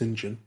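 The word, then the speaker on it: St John: that i live in john smith n that's pronounced sinjin it's nice i didn't know that until i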